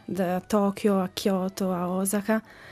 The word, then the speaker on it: Osaka: Ci ha insegnato le ragazze di Osaka, invece no, è Osaka. Perché gli accenti sono praticamente su ogni vocale. Allora, c'è l'accento lungo, che è appunto Osaka. È un... No, quello non è un accento, sono proprio 2 O.